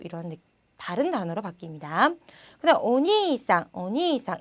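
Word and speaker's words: お兄さん: 그다음 오니상, 오니상 이 길게 오니상 이렇게 발음해 주시고요. 오니이상 이렇게 한 글자씩 떨어뜨려서 발음하지 않도록 유의해 주시기 바랍니다.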